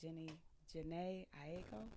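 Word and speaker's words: Jhené Aiko: I like Janae Aiko.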